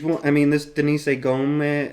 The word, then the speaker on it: Gomes: I mean, this Denise Gomez, I think it's Gomes they say, either Gomes or Gomes.